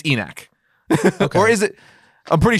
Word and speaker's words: ENIAC: any chance enoch or enac enac is how you pronounce it enact no it's it's based off of the first computer ever no how do you no spell it uh it's a e-n-i-a-c e-neck a lot of people